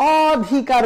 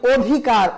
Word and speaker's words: অধিকার: না আমরা বলি অনেক কিন্তু অধিকার বলার সময় আমরা অধিকার বলি না বলি অধিকার ও অর্থাৎ এই যে আদিতে